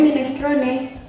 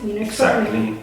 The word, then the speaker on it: minestrone: Tulisannya minestrone, bacanya minestrone. The writing is minestrone. How you read is minestrone. Exactly the same.